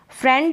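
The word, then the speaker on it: friend: फ्रेंड जो है ना ये फ्रेंड में आई का उच्चारण ए कर रहे हैं।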